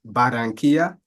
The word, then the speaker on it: Barranquilla: Her name is Talea Phillips, and she has taught English in Barranquilla. I opted for the Spanish pronunciation, of course, and Madrid.